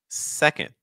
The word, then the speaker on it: second: Now we have two syllables. Your stress is on the first syllable. So that means that what you need to do is you need your first syllable to go a little higher in pitch. You need your second syllable to go a little lower.